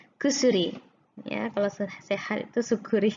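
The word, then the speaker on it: 薬: Bacanya apa? Sukuri. Bukan ya, kusuri.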